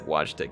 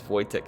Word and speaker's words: Wojtek: of daniel's names too yeah wojtek i said watchtec he says voidtech thing is how it's pronounced uh for an elemental bear or little